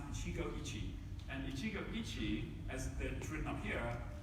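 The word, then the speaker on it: 一期一会: is two japanese characters these characters uh are pronounced in chico ichi and ichigo ichi as they're written up here means treasure every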